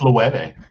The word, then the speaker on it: Loewe: And it's by Loewe, I think it is. I think that's how you pronounce it. Loewe. Who? That's Loewe.